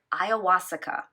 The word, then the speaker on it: ayahuasca: Pronounced ayahuasca, as I phonetically try to spell it for you as well.